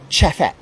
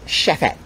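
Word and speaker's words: Chefette: Alright, so if you come to Barbados, you want to talk Bajan, you have to call this Chefet. Chefet, okay? So that is the correct pronunciation for it. Not Chefet, it's Chefet.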